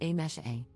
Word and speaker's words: Amse: For context, my name is written as amse but is pronounced as a mesh a.